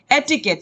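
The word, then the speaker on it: etiquette: एटिकेट, ये इसकी pronunciation है एटिकेट।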